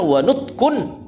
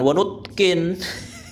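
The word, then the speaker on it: وَنُطْقٌ: itu sunah nah kemudian cara bacanya adalah wanutkun bukan wutkin jadi gini ya cobalah ee anda itu kalau tidak atau kurang memiliki kematangan dalam ilmu bahasa bahasa Arab ya.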